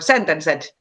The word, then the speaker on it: Sentenced: But Taneli is probably like most well known from the legendary Finnish band Sentenced, or Sentenced, as we Finnish people would pronounce it.